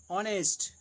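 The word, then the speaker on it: honest: प्रयोग होता है, जैसे जिन शब्दों में एच साइलेंट रहता है उनसे पहले एन का प्रयोग होता है, जैसे an hour, an ऑनेस्ट मैन, an hour, N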